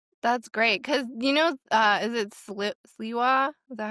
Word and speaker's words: Sliwa: That's great because is it Sliwa? Is that how you say his name? I don't know. Sliwa.